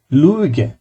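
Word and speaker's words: Lüge: অর্থ জনগণ বা আমজনতা লুইগে মানে ইটা লাইট আসবে দুইটা ঠোট একসাথে যাবে লুইগে অর্থাৎ হচ্ছে কি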